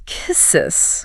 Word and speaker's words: quay: Those are logical guesses based on English patterns, but the pronunciation is kisses. Kisses. Like K E Y.